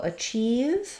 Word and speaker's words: achieve: about the word achieve so achieve has second syllable stress the chief part is long that means that letter a is going to sound like ah it's going to be